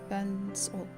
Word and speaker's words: Björn: Björn, that's the way you pronounce it.